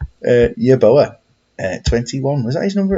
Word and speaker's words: Yeboah: Hang on, you pronounced his name wrong there. It's Yeboah! Yes, off the crossbar.